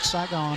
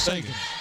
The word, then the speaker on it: Sagan: It's not Saigon or Sagan, it's Sagan.